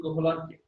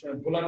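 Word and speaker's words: Wöhler: জনক বলা হয় ফ্রেডরিক কোহলারকে বা ভোলার বলা হয়। WOHLER, কোহলার বা ভোলার, ভোলার উচ্চারণ হয়ে থাকে।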